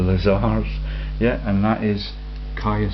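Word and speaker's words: Caius: yeah and that is Ka College pronounced key at Cambridge the light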